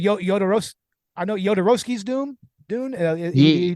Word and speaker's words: Jodorowsky: Josh Miller co-hosts a podcast with Steven Scarlatta, who is the producer of a documentary called Duratsky's Dune. I probably mispronounced that. But basically, Jodorowsky.